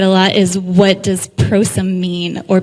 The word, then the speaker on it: Prosum: lot is what does prosím mean or people will pronounce it possum it's and it's a